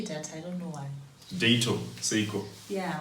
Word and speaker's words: Dato: Yeah, why don't you say Data? Maybe she paying you first? No, she's not. So anywho, please check out her album. Say the name right. I think nobody got that. Dato. Spell it. D-A-T-O. Dato, right?